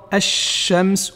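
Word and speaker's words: الشمس: Dans le cas des lettres solaires, le fait de doubler la lettre qui suit le lam est très important, car le lam, lorsqu'il n'est pas prononcé, en réalité, il a fusionné, il s'est caché dans la lettre qui va le suivre, et cette lettre-là va devenir donc plus forte, il faut la prononcer doublement, c'est comme le soleil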